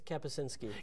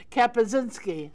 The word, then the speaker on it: Kapusinski: welcome to Jason uh now how do you say your last name it's kazinski kazinski I know I got it so Jason and I